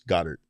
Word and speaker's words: Goddard: dare and people are like it's Goddard you know it's just you're not you don't need to add that extra you're not he's not from a different country or anything like that you're not pronouncing it right but uh of course